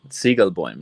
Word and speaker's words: Zighelboim: is I guess for now right it's uh Siegel boim right because it's it's a it's technically a